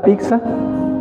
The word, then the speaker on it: pizza: hace ratito al inicio, chef, ¿cómo se dice pizza, su nombre correcto? Pizza. Pizza. Pizza. Pizza. Pizza. Que es originaria de... Sí, no se preocupe. Es originaria de Italia. Preparada por chef 100%. Y ¿cuál es la pizza que más le piden acá?